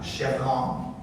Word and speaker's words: Schavrien: So anyway, now, our next performer, I'm going to mispronounce this, Schavrien? Yeah, like Schavrien? Yeah, Schavrien.